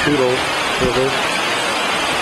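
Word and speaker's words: Toutle: It flows down and goes to the Tootle, I guess. They pronounce it Tootle River.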